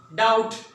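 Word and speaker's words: doubt: डाउट, शक, डाउट, यहां letter B silent है।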